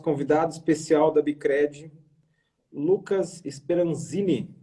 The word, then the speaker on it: Speranzin: Estamos aqui hoje com o nosso convidado especial da Bicred, Lucas Speranzini. É isso? É assim que pronuncia?